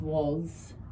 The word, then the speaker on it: was: And why is was? Was. The A makes O, the S makes Z.